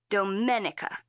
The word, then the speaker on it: Domenica: woods and a river my name is pronounced in the Italian way Domenica Dominica Don it's